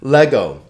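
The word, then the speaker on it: λέγω: Lego. Le-go, right? 2 vowels, 2 syllables.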